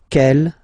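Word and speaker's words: quelle: same way and then the feminine form is written like that q l l but it's pronounced like the masculine form Kell at the masculine Kell at the feminine okay so it's basically same pronunciation okay and then here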